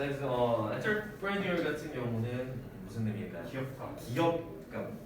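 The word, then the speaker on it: entrepreneur: 자, 그래서 엔터프레니어 같은 경우는 무슨 의미일까요? 기업가, 사업가, 기업가 이런 뜻이고, 약간 그 발음이 프렌치스럽지 않니? 엔터프레니어.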